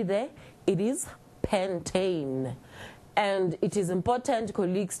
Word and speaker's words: pentane: We must be able to pronounce it as pentane, not pentine.